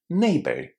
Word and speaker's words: neighbor: Just remember that that R at the end needs to be the soft version of the R. If you're from countries where R is pronounced as the R sound, it can be quite a challenge for you. So not neighbor, neighbor, neighbor or in British English neighbor.